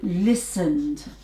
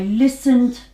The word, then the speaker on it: listened: you hear it so listened I listened to music yesterday okay listened and again Edie at the end of the verb because it's a regular verb but the sound is different it's a dupe okay this one cough